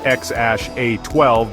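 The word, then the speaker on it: X Æ A-12: They had a son named XAEA She, pronounced XASH-A12 because why make things easy, and a daughter named Exa Dark Sidereal Musk.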